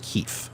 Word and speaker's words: KEF: Keith Sweat, but he also goes by KEF, but he pronounces it Keith.